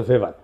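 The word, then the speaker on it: Weber: এটা ওয়েভার বলে অনেকে। এটা উচ্চারণ আসলে ভেভার।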